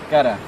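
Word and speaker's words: Garra: Yeah, so the R's we pronounce as a D. So the R's are pronounced as a D. Okay. Ah, but good. Bugatti, Gada.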